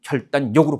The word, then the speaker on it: 결단력: 니은과 리을이 만났을 때 비음화가 일어나는 경우가 있어요. 그래서 결단력 같은 게 대표적인 예인데 결단력은 결단력으로 발음합니다. 그래서 넘겨봤더니 공권력은 공권력으로 발음합니다.